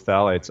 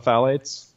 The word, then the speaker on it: phthalates: polyester Wow polyester brings your blood levels of phthalates up and they've even done studies with with laundry detergents that have a lot of phalates and they show that just sit having clothing